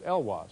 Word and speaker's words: Elwaz: It's not... Not Eloise, no, it's Elwaz. That's the way she pronounced it.